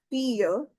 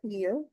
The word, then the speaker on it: fille: The daughter is la fille because of the exception of the silent double syllable of L. We'll connect the sound of fille, la fille.